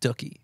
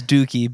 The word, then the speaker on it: Dookie: 20 year or 30y year anniversary of um doie all the way through in like a smaller